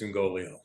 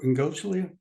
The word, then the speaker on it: Ingoglia: Is it Ingoglia? I pronounce it Ingoglia. Ingoglia, okay. Usually the second G is somewhat silent, but he may pronounce it totally different.